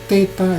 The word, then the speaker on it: theta: Theta ini adalah TH, jadi dua konsonan jadi satu, theta.